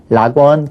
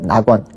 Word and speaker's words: 낙원: 오는 거 꺼려 하니깐 라원 그렇게 발음 안 하고 낙원 올 내자 그러니까 레가